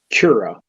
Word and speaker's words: Cura: to set it up from daz cura if you want to slice it or is that how you pronounce it tara yeah a c-u-r-a is that's that's how you slice it she said that's